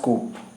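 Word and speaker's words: coup: कूप होता है, डैश कूप, डैश कू होता है, नॉट कूप नहीं होता, कू।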